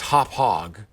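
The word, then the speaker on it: Hauppauge: AU P P a you GE hauppage is pronounced hauppage not aged a bug misspelled H au p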